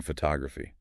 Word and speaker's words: photography: photograph clear stress on fu right first syllable but then photography ah see how it shifts fos's raffy now the stress is on tog that's second syllable interesting and uh maybe